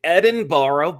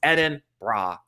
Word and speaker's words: Edinburgh: was always as american i want to say edinboro but i've been educated it's edin bra that's how i remember it